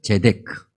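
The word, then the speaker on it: צדק: 공의는 히브리어로 제데크, 그렇게 발음합니다.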